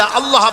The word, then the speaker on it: আল্লাহ: কেউ বলে না আল্লাহ আল্লাহ পাকের উচ্চারণটা হচ্ছে আল্লাহ পাকের নাম হচ্ছে আল্লাহ মুখটা একটু গোল হয়ে যাবে বলেন আল্লাহ আল্লাহ এবার